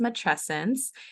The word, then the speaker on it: matrescence: um so it's pronounced mattresses and it kind of mirrors adolescence it's this change that